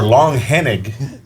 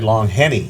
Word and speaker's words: Langehenning: Langehenning? Langehenning. Or Langhennig. Langhennig. Yeah. But a lot of people around here just say Langhenny. Yeah. Like Langhenny.